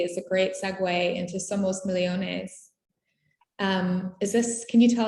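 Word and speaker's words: Somos millones: i did it wrong somos michonnes well that's my argentinian accent but you say it right you say the neutral spanish yeah but we argentinians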